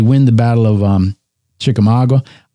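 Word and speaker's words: Chickamauga: Now they win the battle of um Chikamaga. I always want to say Chikamagua. It's Chikamaga.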